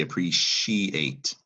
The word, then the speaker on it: appreciate: In French, it's a soft C, but in English, we actually pronounce it with a sh sound. So French would pronounce this word appreciate. We say appreciate.